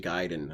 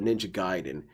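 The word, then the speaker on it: Ninja Gaiden: he was saying that he calls it Ninja gayen but some people call it ninja giden and actually both both pronunciations are fine to which my response to that is not really there is a way that it's pronounced it's Japanese giden so DSP insists through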